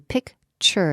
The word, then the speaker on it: picture: what they say now notice the pronunciation picture t u picture it sounds like ch picture not picture no